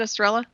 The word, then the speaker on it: Estrella: oh yeah excellent and is your name pronounced right is it EST strella yep okay good I want to